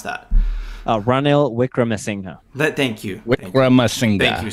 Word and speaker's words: Ranil Wickremesinghe: How do you actually pronounce that? Ranil Wickremesinghe.